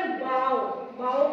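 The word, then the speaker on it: bow: बना हुआ उसका ना, उसको कहते हैं बो, उसकी प्रोनाउंसिएशन होगी बो। पर अगर हम इसको बोले बाओ का मतलब झुकाना, सिर झुकाना, किसी के आगे बाओ करना, सिर झुकाना। बो और बाओ डिफरेंट हो गया, प्रोनाउंसिएशन डिफरेंट हो गई, उच्चारण डिफरेंट हो गया।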